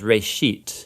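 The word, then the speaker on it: בְּרֵאשִׁית: of it's called Genesis Genesis comes from a Hebrew word it's pronounced for a sheet and it just means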